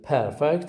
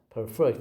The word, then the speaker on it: perfect: On this page, we have got two examples of the word with perfect and perfect, where the word perfect receives stress on the first syllable and the word perfect as a verb receives on the second syllable.